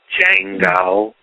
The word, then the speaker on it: Django: No, the D is silent. Django.